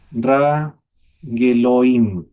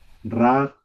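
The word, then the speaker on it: רגליים: Rageloim. Claro, ahí, pero el Shebai no se pronuncia. Ra. Raglaim.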